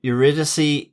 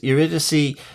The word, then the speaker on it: Eurydice: Of course, the C in Eurydice is a K sound.